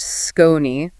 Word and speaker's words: SKON: That's S K O Ni, pronounced Skone.